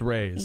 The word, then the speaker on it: Reyes: My last name is Reyes. Just Reyes. Yeah, okay, Reyes. Just like it's spelled.